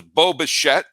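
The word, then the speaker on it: Bo Bichette: the big star was Boba shet it always sounds like I'm saying Boba Fett when I say his name Boba shet went five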